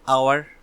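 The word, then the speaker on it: hour: এরকম আরও বলা যেতে পারে অ্যান আওয়ার, মানে 1 ঘন্টা, যে অ্যান আওয়ার, তো সেই অ্যান আওয়ারটাও ও এর মতো উচ্চারণ আসছে, আওয়ার, তার আগেও কিন্তু এ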